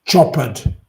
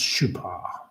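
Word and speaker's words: Chopard: Um some people was call it Chopper but it's pronounced Shupar.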